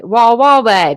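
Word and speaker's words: Wawawai: The prosecutor writes, the defendant has yet to Wawawe. That's how you say it. I don't know what I was saying before, but it wasn't that.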